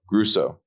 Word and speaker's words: Gruesso: Gruesso. Just like it looks.